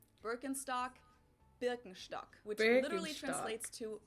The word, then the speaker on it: Birkenstock: the world nowadays and it's natural that people pronounce it with their native accent so English speakers usually say Birkenstock in German we say Birkenstock Birkenstock Birkenstock which literally translates to Birch stick the